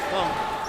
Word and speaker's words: Funk: As Jim Matson says, Funk rhymes with dunk.